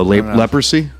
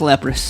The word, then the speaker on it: Leprous: Oh, leprosy? No, Is that how you pronounce it? no. I think it's just leprous.